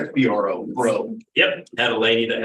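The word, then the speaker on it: Breault: Last name is BREAULC, pronounced BRO, bro.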